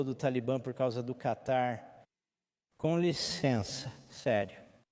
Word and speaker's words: Catar: C-A-T-A-R. Acho que mudaram a pronúncia, mas para mim sempre será Catar.